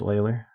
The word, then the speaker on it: Euler: spell it that way if he wanted it pronounced Euler should be o-i-l so we're going to